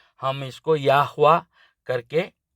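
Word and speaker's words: יהוה: या उच्चारण करते हैं बहुत लोग यवे बोलते हैं बहुत लोग यहोवा बोलते हैं बहुत लोग जेहोवा बोलते हैं लेकिन मैंने जैसे ही हिब्रू भाषा को गहराई से पढ़ा तो मुझे यह उच्चारण सही लगा यावा तो इसका अर्थ तो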